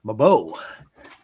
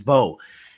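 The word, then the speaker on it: Mbow: But before I do, I just want to say, man, Marcus Mabo. This guy is I supposed think to it's be Marcus an Bow. early Mo. No, he's the M is silent. Okay, Marcus Bow.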